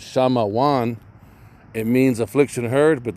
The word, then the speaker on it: Shamawan: Affliction heard, Shamawan. Affliction heard, and I want you to see it right there, number 4. Simeon, affliction heard, Shamawan, and that's the Paleo Hebrew.